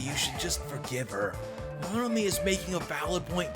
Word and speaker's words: Monomi: I thought when she came in and said, it's Monomi, I thought she was correcting my pronunciation of it. That's funny. It's Monomi, you fucking idiot.